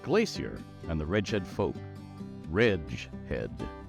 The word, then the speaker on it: Reghed: we're gonna do this reg head The Wretched Glacier and the redhead folk Ridge Head rhymes with ledge red this is a name